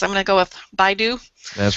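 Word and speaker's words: BeiDou: their 20th uh you told me how to pronounce this I'm going to go with BYU that's right the BYU satellite their 20th one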